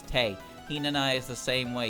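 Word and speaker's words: Tewi: Her name is spelled with a W, but you don't pronounce it, so it's Tei.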